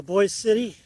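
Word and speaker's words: Boise City: a guy boy City they call it boy but it's spelled Boise so boy City so I'm I'm going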